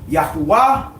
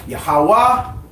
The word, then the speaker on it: Yahweh: all caps that means the word there was Yahweh yah hey la hey or some pronounce it yahuwah or yahwah or anyway or however you want to pronounce it but is yad